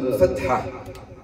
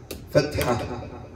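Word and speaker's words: فتحة: Je sais que c'est difficile le H ici, mais petit à petit, on va apprendre la prononciation de tous les lettres.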